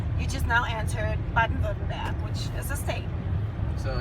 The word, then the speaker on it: Baden-Württemberg: It's called Baden-Württemberg.